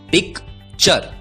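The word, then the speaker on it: picture: यू आर ई दोस्तों याद रखिए टी यू आर ई का उच्चारण होता है चर टूरे नहीं उच्चारण होता है चर अब यदि टी यू आर ई का उच्चारण होता है चर तो पी आई सी टी यू आर ई का उच्चारण होगा पी आई C pick T यू आर ई चर उच्चारण होगा पिकचर पिक्चर पिक्चर का मतलब होता है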